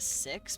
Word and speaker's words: Sikhs: Or the Sikhs, that's how you pronounce it.